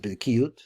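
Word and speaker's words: בקיאות: For example, in the study of the Talmud, while some people are good at what we call bikiut. You could pronounce it bikiut, which is the skill of knowing a lot of Talmud in a general way.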